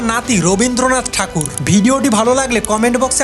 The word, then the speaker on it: ঠাকুর: সেখানকার মৎসজীবী সম্প্রদায় তাদেরকে ভক্তি ভরে ঠাকুর বলে সম্বোধন করতে শুরু করে। ব্রিটিশরাই ঠাকুর শব্দটিকে তাদের উচ্চারণে ট্যাগোর হিসেবে বিশ্বব্যাপী পরিচিত করে তোলেন।